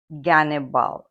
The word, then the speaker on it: Gannibal: carthaginian general Hannibal in in Russian transcription it pronounced gannibal ghal and that's how